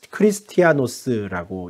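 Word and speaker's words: Χριστιανός: 헬라어로는 크리스티아노스라고 읽는데요.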